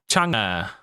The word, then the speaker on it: Chunga: Uh Chunga, according to Ragewood, that's how you pronounce that.